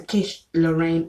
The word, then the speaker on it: quiche Lorraine: And then the quiche Lorraine is spelled QUICHE space LORRAIN, like Lorraine in the name, as in the name Lorraine.